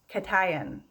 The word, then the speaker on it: cation: charged ion is called i'm gonna say it right katayan okay this is a cation um when it is